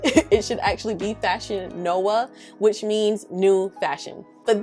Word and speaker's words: Nova: in latin are pronounced as w's so we're pronouncing fashion nova wrong it should actually be fashion noah which means new fashion but that little tidbit